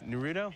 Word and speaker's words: Naruto: how do you n what is it it's Naruto n n you have to say it like